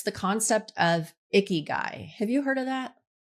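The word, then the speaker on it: ikigai: And it's the concept of icky guy. Have you heard of that? I have not, but share. Sounds sounds interesting. It's spelled I K I G AI. Icky guy.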